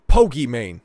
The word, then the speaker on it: Pokimane: life for sure is pokey man she's she's a streamer I know I didn't mispronounce Pokemon but no it's it's Pokey man I guess her name